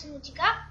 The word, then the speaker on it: Subnautica: ça se prononce Subnautica.